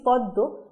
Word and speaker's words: পদ্ম: কিন্তু আমরা উচ্চারণ করছি পদ্ব কিন্তু উচ্চারণে কিন্তু পদ্বই রয়ে গেল অর্থাৎ আমরা যখন বলছি তখন পদ্বই থাকছে যদিও এই শব্দটা লেখার ক্ষেত্রে পদ্মই থাকছে কারণ এটা মান্য শব্দ